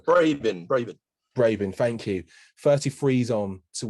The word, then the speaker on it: Brabin: Tracy Brabin, I know I've pronounced that horribly wrong. Brabin, thank you.